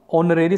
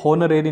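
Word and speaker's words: honorary: ऑनरेरी से होनरेरी नहीं पढ़ा जाएगा, एच क्या हो जाए पर साइलेंट, ऑनरेरी।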